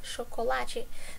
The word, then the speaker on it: chocolate: And by the way, chocolate in Portuguese, we say this as chocolate. The way that we write it, it's the same. It's just the pronunciation that's different.